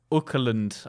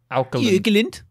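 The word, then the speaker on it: Åkerlund: Jonas Ukerlund, I believe. I don't know how to... It's an A with a circle over it. Ukerlund. Ukerlund.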